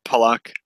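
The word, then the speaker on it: Pulock: Like Pulak was kind of like the one. Wait, how do you say it again? Because I know we're saying it wrong. It's Pollock. Pollock.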